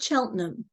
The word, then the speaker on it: Cheltenham: it's better okay all right Sally can you pronounce where the the city in England where you are originally from yeah it's called Cheltenham Cheltenham Okay so originally from Cheltenham England Sally Spurgeon